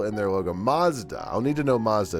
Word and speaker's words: Mazda: They say it with a long A in the UK. Mazda. Or Mazda.